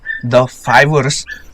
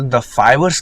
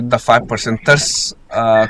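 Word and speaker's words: The5ers: शायद इसे द फाइबर्स कहते हैं। पर पहले से मैं इसे द 5% कह के आ रहा हूं। इसलिए मुंह से द 5% निकल जाता है। बट I think it is pronounced as द फाइबर्स।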